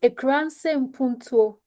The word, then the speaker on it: Akurase Mpuntuo: So Akurase Mpuntuo Foundation, it's pronounced Akurase Mpuntuo. In Puntuo, yes, it's an Akan phrase, which literally means Rural Development Foundation.